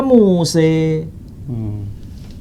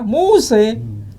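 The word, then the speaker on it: موسى: Inna hadza lafis suhufil ule suhufi Ibrahim wa Muse. Pakai mana namanya Muse? Ya kan? Jelas kan? Muse. Bukan Musa, Muse. Dibaca Musa boleh, dibaca Muse boleh. Kalau dikatakan Musa versi Quran dengan Moshe versi Alkitab itu beda.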